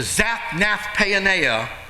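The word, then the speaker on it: Zaphnath-paaneah: from my pastor he taught me how to pronounce that he changed his name to zapnath payoneer which literally means the savior of the world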